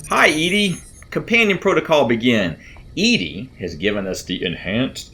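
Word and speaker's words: ED-E: go it's overhead and it's Eddie I think is the theoretically preferred pronunciation but I will admit that I have always called it Edy uh I think there's just a this is what it looks like looks like Edy so hi Edy companion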